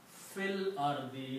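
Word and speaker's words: في الأرض: when you read together you will pronounce Phil or the Do Not pronounce this Al if in between fil or the in the land don't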